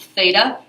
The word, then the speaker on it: theta: This right here, I don't remember if I mentioned it, this is pronounced theta.